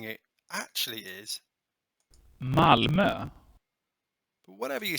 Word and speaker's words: Malmö: i call it malmo but the correct way of pronouncing it actually is malmo but whatever you say the city was named the happiest in sweden in 2016.